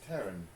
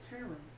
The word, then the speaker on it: Taryn: My name's not Barrow. It's Taryn. I thought that you said Tara. Taryn.